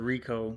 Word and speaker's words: Ricco: The Italian gangster Rico.